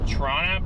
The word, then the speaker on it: Toronto: Toronto is pronounced Toronto by the locals.